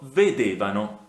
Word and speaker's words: vedevano: vedevamo, voi vedevate, loro vedevano. Notate come nella terza persona plurale, quindi loro, l'accento venga anticipato di una sillaba rispetto a noi, voi. Quindi noi vedevamo, voi vedevate, loro vedevano.